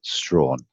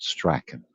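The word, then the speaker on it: Strachan: place called str well their surnames pronounce strawn not striking right and there's an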